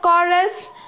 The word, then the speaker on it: chorus: And what is the meaning of chorus? Chorus means to say something together. And it is not chorus, or it is not chorus. It is chorus. It's not ch, it's k.